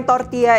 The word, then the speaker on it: tortilla: Kulit tortilla atau dibacanya tortilla ini asalnya dari Meksiko dengan bahan dasarnya tuh bisa macem-macem banget, mulai dari jagung, kacang, dan lain sebagainya.